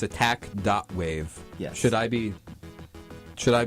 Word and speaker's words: ATTACK.WAV: bold it's really bold attack dot wave it's spelled wav like a wave file yeah like so that